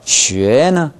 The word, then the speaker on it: 学: 지금 쉬 할 때 발음이 잘 안 나요. 시 해보세요. 시. 네, 시. 시. 위. 위. 쉬. 쉐. 쉐. 됐어요. 아까하고 뭐가 다르냐면, 쉐 할 때, 혀가, 혀 바닥이 입천장에서 아까는 너무 떨어져 있었어요.